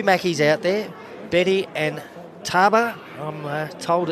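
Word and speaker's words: Tabwa: So, there's two Mackey's out there, Betty and Taba. I'm told it's pronounced T A B W A as Mackey, she goes right in front.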